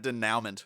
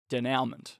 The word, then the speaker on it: denouement: French yeah it spent denouement but uh almonds out it's French and you're not supposed to say it like that there's any French people listening denouement anyway yeah so I